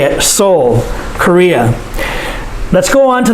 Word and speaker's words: Seoul: the capital seoul that's how you say it seoul korea let's go on to the next part